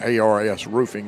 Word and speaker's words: ARS Roofing: Tell you some other of our great sponsors: American Roofing Soft Wash, also American Roofing, or ARS Roofing is the proper way to say it.